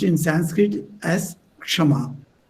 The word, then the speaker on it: Kshama: This Kama in Bengali is pronounced in Sanskrit as Kshama.